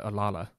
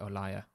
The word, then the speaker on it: Olalla: liar by the way i always thought it was called a lala but i is that how you pronounce it i discovered that you're actually supposed to pronounce it or liar interesting unless the internet